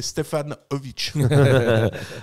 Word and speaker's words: Stevanovic: Stevanovic. Selon Varela, c'est Stefanovic.